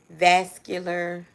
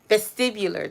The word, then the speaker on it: vestibular: I finally had got released from going through vascular, make sure I'm saying it right, vestibular.